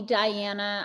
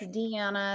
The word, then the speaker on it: Deanna: In Europe, they call me Diana. I will say it's Deanna, and they'll say, oh, nice to meet you, Diana. And I was like, no, it's Deanna.